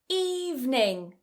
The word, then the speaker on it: evening: Evening. Evening. It's quite common for many learners to pronounce this as evening with 3 syllables, but actually it's just 2.